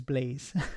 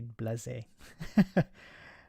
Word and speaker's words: blasé: I know, Daily Blasé, but sometimes he says Blaze. He says, call me Daily Blaze. It's more correct. I think with the accent on the E, you have to say Blasé.